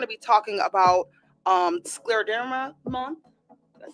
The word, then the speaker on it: scleroderma: We're going to be talking about um scleroderma month.